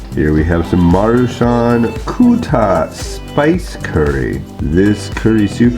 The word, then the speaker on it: QTTA: One thing too, the QTTA is pronounced kuta, which means I'm full, so it's supposed to be a full meal.